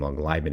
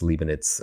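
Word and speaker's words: Leibniz: major long long ago I probably pronounced his name long liin it's leanit uh forget but he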